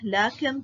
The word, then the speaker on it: لكن: كلمات فيها ألف تنطق ولا تكتب: ألف المد الموجودة في أسماء الإشارة كهذا، هذه، هذان، هؤلاء، ذلك، كذلك، أولئك. إذن عزيزي الطالب هذه الكلمات نقوم بلفظ الألف ولكن لا نكتبها. ألف المد في الضمير المبدوء بهمزة مع هاء التنبيه: ها أنتم، ها أنتما. ألف المد في الله، الرحمن، إله، لكن، طه، التنوين.